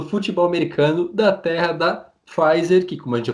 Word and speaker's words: Pfizer: Os principais destaques, tanto do basquete quanto do futebol americano, da terra da Pfizer, que, como a gente já comentou, não é alemã, por mais que pareça na pronúncia, é americana.